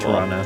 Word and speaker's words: Toronto: The way you say it with that silent second T is beautiful. Toronto.